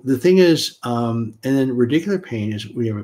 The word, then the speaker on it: radicular: And then is it radicular?